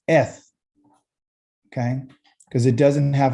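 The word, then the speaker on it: את: So the aleph is silent. So we're going to pronunciate these 3 dots. Eh. And then this is the TH sound, which is eth.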